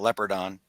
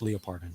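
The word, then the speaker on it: Leopardon: part on and out leopard on yeah it's actually is pronounced Lia pardon but so by the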